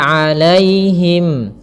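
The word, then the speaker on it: عليهم: An'amta 'alaihim. Kemudian pada lafal 'alaihim. Alaihim di sini ada ya sukun yang didahului dengan fathah. Ini kita namakan dengan bacaan lin. Maka lembut dalam pelafalannya.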